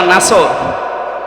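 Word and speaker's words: نصر: এই জন্য যারা এই সূরাটা পড়তে গিয়ে সোয়াদ না বলে সিন দিয়ে উচ্চারণ করেন, আপনার কিন্তু নামাজ হবে না।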